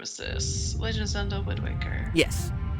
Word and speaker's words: Wind Waker: Legend of Zelda Windwaker. Yes. Walker or Waker? Waker. Did I spell it wrong? Waker. I thought it was Walker. Windwalker. No, Windwaker. Because you're waking up the winds.